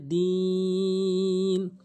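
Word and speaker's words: دِينِ: সঠিক উচ্চারণ হচ্ছে আবুদ এখানে দিন অনেকেই টেনে পড়ে না এটা টেনে পড়তে হবে দিন তো আমাদের ভুলগুলো অবশ্যই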